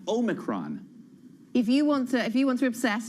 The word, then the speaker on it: Omicron: Omicron or Omicron, but I know that the accent would have been on the second syllable, Anna, because the point of this 15th letter of the alphabet, it's O minor. It's the small o as opposed to omega. So it should be Omicron and not Omicron.